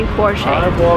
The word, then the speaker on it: Porsche: to pronounce it because it's a German name the stress goes to the first part of the word and we say bche remember Never Say bche